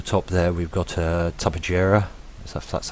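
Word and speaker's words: Tupuxuara: legitimately at the top there we've got a Tubba JIRA that's how you say it with tech armor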